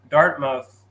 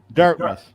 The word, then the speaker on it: Dartmouth: And you mentioned Dartmouth. Was it How do you say it? Where are you from? Dartmouth. Dartmouth. Okay.